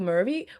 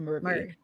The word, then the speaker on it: Murray: Michael Murphy. Murphy. Murray.